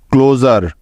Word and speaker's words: closure: Vowel উ আছে, তাই SURE এর উচ্চারণ জার হয়ে যাবে, অর্থাৎ এস এর উচ্চারণ এখানে জ হয়ে যাবে। সুতরাং CLU ক্লো এবং SURE জার মিলে হয়ে গেল ক্লোজার। ক্লোজার ক্লোজার অর্থ হলো বন্ধ বা অবসান।